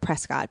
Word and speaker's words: Prescott: go to Prescot Arizona last week and apparently it's spelled Prescott but it's pronounced Prescot and I never would